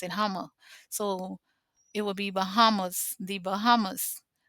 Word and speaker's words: Houma: The Hummers is people in Louisiana know that Homer is spelled Houma, but the people in Homer pronounce it Hummer.